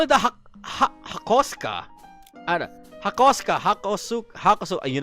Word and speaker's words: Hakosuka: The hak I would not call it a hakoska.